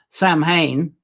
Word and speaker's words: Samhain: with uh and so maybe we're not pronouncing wrong these days especially in North America if we actually say sam Hayne Sam Hayne could well